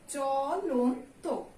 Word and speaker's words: চলন্ত: তারপরে আমরা উচ্চারণ করি কি তো, চলন্ত।